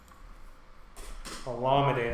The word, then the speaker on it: Olamide: Olamide, that's how you say it. Olamide?